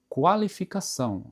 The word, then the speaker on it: qualificação: A, por exemplo, é qualificação. Dá a impressão que o U está sendo, digamos, pronunciado, né? Qualificação. Só que tem a questão de,